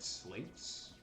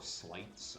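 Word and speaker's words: Sleights: level up your health, You can get slates, or slights, I guess is actually the correct pronunciation, because it's supposed to be sleight of hand type of thing.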